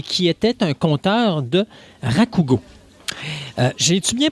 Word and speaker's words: rakugo: Martin Savard, qui était présent à l'événement et qui était un conteur de rakugo. J'ai-tu bien prononcé, Martin? Oui, le rakugo.